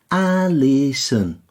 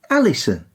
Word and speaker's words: Alison: Alison. Alison. It's the O that causes the biggest problem, isn't it? Yeah, people tend to overemphasise it, whereas a native English speaker hardly pronounces it. Alison.